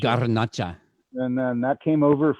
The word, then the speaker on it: Garnacha: You got to roll your R's. Garnacha. Garnacha.